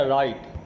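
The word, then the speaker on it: write: रहा है ठीक है देखो डब्लू तो साइलेंट हो जाता है पढ़ते हैं र प्लस आई प्लस टी य हो गया राइट क्या पढ़ते है इसको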